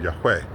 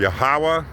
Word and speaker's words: Yahweh: So in our attempt to say his name right, we say it wrong. So we call him Yahuwah, we call him Yahweh, because you're putting a vowel in between two syllables. It's only two syllables, it's not three.